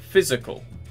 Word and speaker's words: physical: Physical, first syllable.